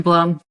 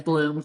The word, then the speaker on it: Blum: No, it's always been Blum. Just here they always pronounce it as Bloom and then I just